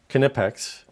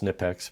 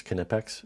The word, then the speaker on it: Knipex: It is a German company, and that's how you pronounce it. We here in the United States tend to change everything, and so better known as Knipex, but I'm trying to